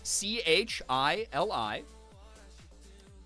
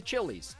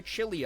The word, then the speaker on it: Chili: all the time, but there's a suburb here called, it's spelled C-H-I-L-I. Hey, welcome to Chili's, you know, right? Or, I would like to order the chili off the menu. Nope. We say, chili. We say chili here.